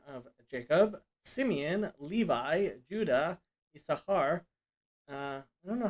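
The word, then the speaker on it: Issachar: that's famously called banay saskar and the second sin is pronounced but usually that's that's treated like it's silent and it always has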